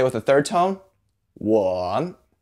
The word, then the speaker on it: 我: In the 我, the O sounds a little different than the English O, so don't say O. In Chinese, the O sound is or.